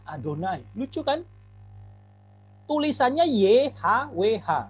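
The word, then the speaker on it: יהוה: tahu mereka Bacanya apa setiap muncul yhwh mereka enggak bacanya Yahweh karena yhwh itu gak bisa dilafalkan a consonant semua akan tetragrammaton mereka bacanya adonai lucu kan Hai tulisannya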